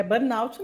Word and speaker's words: burnout: não é um sobrenome então é bornout mesmo é Burnout mesmo exatamente ex é que